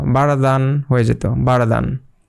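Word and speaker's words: بردا: তো এইটার উচ্চারণ হবে যে বারদা। এখানে এক আলিফ টানতে হবে এবং একটা জবর চলে যাবে আর একটা জবর রয়ে যাবে, ওইটার জন্য এখানে এক আলিফ টানতে হবে। বারদা।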